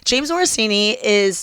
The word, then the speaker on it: James Morosini: The guy that was on James Morosini. Am I saying it correctly? Yeah, you okay. James Morosini he was on Sex Lives of College Girls.